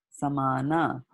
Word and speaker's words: samana: these words so correctly, because she read it as Sanskrit is read, right? And in Sanskrit, what happens in Sanskrit? Pran, Prana, pan. apana, vyana, samana, and udana.